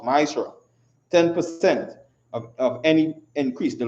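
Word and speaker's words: מעשר: Means tenth in the Hebrew and is pronounced Maisra.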